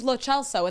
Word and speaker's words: Lo Celso: But it's Lo Celso, and that's the only way it should be pronounced. I'm sticking with It Lo is. Celso. I've been calling Lo Celso since he came to Tottenham. It's Italian, so the CE is a ch sound.